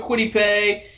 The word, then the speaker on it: Kwity Paye: Kwity Paye? Is that how you're supposed to pronounce it? Yep. All right. Yeah, we're going to go Kwity Paye and give them a little bit of a